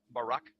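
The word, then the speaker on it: ברק: brightness or a glittering the Hebrew word is Barak so lightning or a flash of light in Hebrew is pronounced Barack or Barack now consider this amazing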